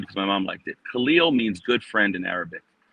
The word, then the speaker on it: Kahlil: used to that name and so they mis mispronounce it. So I got Cahill, all these kind of things. And my dad said, "No, you correct them." So, right, I I corrected the Khalil, but I also correct him on now